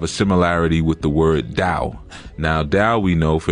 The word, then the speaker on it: Tao: the dao traditions and usually we see that spell t-a-o so people will say tao but it's ordered or that hey people say but it's actually dao well it's okay you